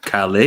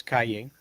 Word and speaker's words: Calle: Is this Sasha Calais or Calais? I think it's Calle, which is street in Spanish.